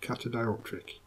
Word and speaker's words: catadioptric: And this final value, well, it's not the final value, this catadioptric, I think is how you pronounce it, catadioptric.